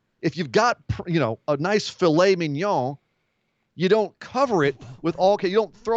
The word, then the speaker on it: mignon: Can you say filet mignon again? Filet mignon. Mignon. That's how it's pronounced.